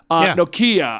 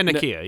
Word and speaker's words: Nakia: Nakia, I think that's how you pronounce her name. Yeah, Nakia. Yeah. Nakia.